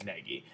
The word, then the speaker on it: Negi: nagi springfield powerful a nagy springfield like however you want to pronounce his name i usually pronounced at negi um but like I